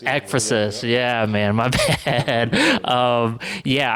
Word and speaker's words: ekphrasis: The ekphrasis, is that how it's pronounced? Yeah. Ekphrasis? Ekphrasis.